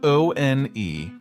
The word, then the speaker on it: one: That's spelled O-N-E, like saying one, but with a silent E at the end.